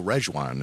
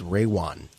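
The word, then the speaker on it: Rejwan: to pronounce this is Ray Juan Oh ray one ray one so the J is silent well okay well you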